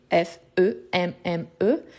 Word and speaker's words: femme: qui dit le suivant quand on a un E qui précède de M on a les sons de a fréquemment c'est la même chose quand on dit par exemple femme femme femme ça s'écrit F e M m e mais on dit femme pourquoi parce que c'est